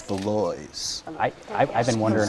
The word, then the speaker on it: Valois: in a nutshell and i always say velouses but it's beloise i i've been wondering